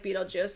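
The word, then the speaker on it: Betelgeuse: Okay, so it's pronounced like Beetlejuice.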